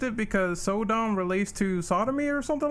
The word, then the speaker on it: Sodom: So I assume they censor his name or changed it because Sodom relates to sodomy or something like that.